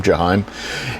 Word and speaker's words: Jaheim: It's Jaheim.